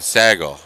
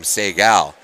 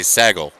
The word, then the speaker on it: Segal: wrong this entire time he says it's more like bagel so Stephen Sago and I've been calling him Segal I said well that's not how begel is spelled so can you blame me he didn't find that too amusing so now I'm being extra careful just to say saggle like Bagel there we go little